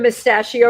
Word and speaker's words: Mustachio: Stephen Mustachio rhymes with pistachio.